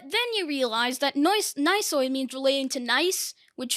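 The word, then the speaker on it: gneiss: of is but then you realize that noise nicer means relating to nice which is a rock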